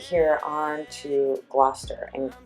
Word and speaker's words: Gloucester: Turning right here on to Gloucester, and Gloucester is spelled 𝒔𝒐𝒕𝒔, but it is pronounced Gloucester.